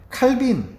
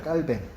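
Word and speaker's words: Calvin: 칼빈 아시죠? 칼빈. 칼빈은 영어식으로 발음이고 원래 프랑스 사람이에요, 이 사람이. 그래서 원래 깔뱅입니다, 깔뱅.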